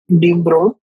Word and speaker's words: de Broglie: In 1924, French physicist Louis Victor de Broglie pronounced de Broglie put forward the bold hypothesis that moving particles, no matter, should display wave-like properties under suitable conditions.